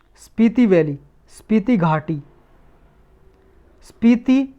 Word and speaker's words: स्पीति: एक देखो स्पीति valley news में थी, स्पीति वैली, स्पीति घाटी, स्पीति या पिति बोलते हैं इसे, पिटी भी हो सकता है इसका प्रोनाउंसिएशन, स्पीति या पिति वैली।